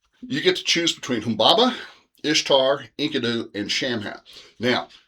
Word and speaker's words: Humbaba: It says all those middle vowels, which are generally soft vowels, should be long vowels, and so he's pronounced it Humbaba and Enkidu, and I guess it would be Shamat.